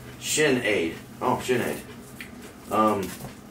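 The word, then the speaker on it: Sinéad: senate is an irish girl's name and it's pronounced shin aid oh janae um it's the irish version of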